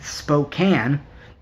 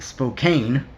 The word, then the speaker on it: Spokane: reason I'm going to Spokane and thank you for correcting me on how to pronounce it it's Spokane not Spokane I don't want to